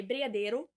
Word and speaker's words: brigadeiro: In Portuguese, we say brigadeiro. Brigadeiro. But because I'm speaking in English now, I pronounce the words in English for some reason. So brigadeiro, which is basically...